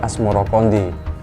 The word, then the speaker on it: Asmoroqondi: 14 Babad Tanah Jawa versi mainsma menyebutkan asmorokodi mengikuti pengucapan lidah orang Jawa terhadap assamarkondi hingga akhirnya berubah menjadi asmorokondi Selain itu di kalangan